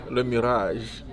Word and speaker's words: Le Mirage: Le Mirage. Le Mirage? Le Mirage. Le Mirage. Le Mirage. You gotta roll your R, like Le Mirage.